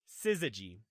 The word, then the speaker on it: syzygy: Syzygy. That's how it's pronounced.